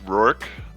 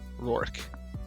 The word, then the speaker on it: Rourke: uh yeah you're close its Rourke like New York but with an AR work yeah perfect right alright